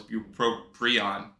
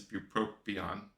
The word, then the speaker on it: bupropion: always thought it was buproprion, but apparently there's no R. Bupropion sounds wrong to me, but I guess it's bupropion.